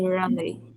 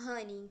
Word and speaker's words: honey: I like to eat runny, and you? I like to wait honey and you. Eat. To eat honey. To Não tem eat um R aqui, tá? A gente pronuncia honey com som de R.